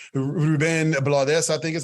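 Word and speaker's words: Rubén Blades: And then one last thing I'll say, I went to this thing with Ruben Blades, Ruben Blades, I think is how you pronounce it.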